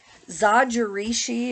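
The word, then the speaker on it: Zojirushi: this is Darling um zodiarishi is how you say it so if you're not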